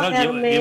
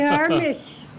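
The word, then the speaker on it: Hermès: Baka yung Hermes yan doun sa Divisoria. Ganon ba pronunciation? Exact how you pronounce it pag Frances de Herme. Ay hindi the Hermis.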